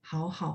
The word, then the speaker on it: 好好: Bacanya hao-nya yang pertama itu nada 3, yang keduanya nada 1 ya.